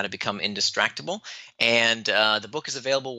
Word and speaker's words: Indistractable: It's spelled I-N, the word distract, A-B-L-E. So Indistractable.